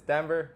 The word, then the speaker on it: Denver: say my name and I'm like like the city Denver like that might be